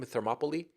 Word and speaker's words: Thermopylae: How do you pronounce that name? Thermopylae.